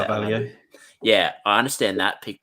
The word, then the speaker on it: Carvalho: Carvalho.